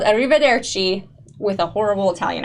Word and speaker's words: Arrivederci: Okay, this episode is called Arrivederci with a horrible Italian accent.